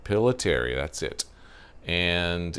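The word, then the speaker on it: Pillitteri: I want to say it's Pilateri, but I want to make sure I'm pronouncing it right. Pilateri, that's it.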